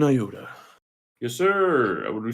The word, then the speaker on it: iota: Iota. Let me actually see how to pronounce that.